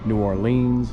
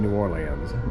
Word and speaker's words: New Orleans: And I've always been told that uh New Orleans is the only city in the world with three pronunciations and they're all correct. New Orleans, New Orleans, and New Orleans.